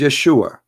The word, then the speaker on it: Yeshua: pronounce the correct word the correct word in the Hebrew is Yeshua as simple as that